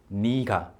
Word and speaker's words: 니가: So nega and nega, since these are so similar, people started kind of pronouncing this word or this expression in a different way. And people say 니가, 니가.